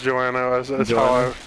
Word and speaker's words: Joanna: or Jo Joanna it's Joanna Joo is how you'd proba properly pronounce it am I right it's like Joan for sure I'm no Gale Dante